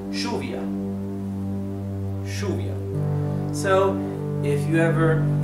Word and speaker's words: lluvia: The word for rain, which in Spanish is lluvia, okay? Lluvia. In Argentina and in Uruguay is pronounced lluvia.